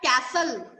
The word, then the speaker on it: castle: जैसे कि look at the first word castle, C-A-S-T-L-E. In this word, can you guess which letter is silent?